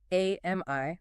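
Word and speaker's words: AMIE: Okay, so first up is the advanced clinical assistant, AMI, that's A M I E, pronounced like the name Amy.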